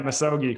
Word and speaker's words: misogi: And so the first one was the chapter on the Misogi, if I'm pronouncing it correctly. Yeah, Misogi.